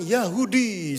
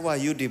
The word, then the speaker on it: Wahyudi: Waktu dibaca nama-nama peserta mahasiswa semester ini, pas giliran saya, dia bacanya gini, Yahudi, saudara ya. Padahal saya Wahyudi, bukan Yahudi ya.